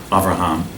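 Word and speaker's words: אברהם: Rome and the Hebrew of his name is pronounced offer amor Rihan avraham so you'll pardon me for you've been going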